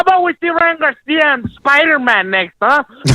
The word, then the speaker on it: Garcia: some fire is always his last name is Garcia Garcia not Garcia you can't pronounce his